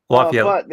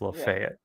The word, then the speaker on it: Lafayette: Lafayette, Indiana. Not Louisiana. Indiana. Dude, I say that every time. Sorry. Um, but Lafayette because if it was in Louisiana, it would be pronounced Le Fet.